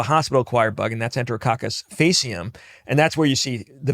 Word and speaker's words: faecium: are Enterococcus faecalis, which is annoying that they pronounce that one with a hard C and then faecium, which we'll talk about in a second with a soft, but that's just the way it is.